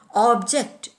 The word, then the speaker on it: object: Object is accented on the first syllable, both as a noun and a verb.